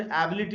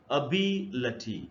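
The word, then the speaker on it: ability: इसको हम लोग अक्सर एबिलिटी वगैरह ऐसे पढ़ लेते हैं। लेकिन अगर आप ट्रांसक्रिप्शन को देखें तो इसका जो जो करेक्ट प्रोनंसिएशन है वो है अभी लची ऐसे पढ़ना है।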